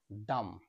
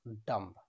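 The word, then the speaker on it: dumb: বি এর আগে এম রয়েছে, এর সঠিক উচ্চারণ হবে ডাম, নট ডাম্ব, ডাম।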